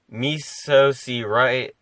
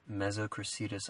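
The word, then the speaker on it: Mesocricetus: Their scientific name is, as I pronounce it, Mesoceratus auratus. Yeah, so that's completely wrong, but I'll take it. Then what is it? Mesocracetus auratus.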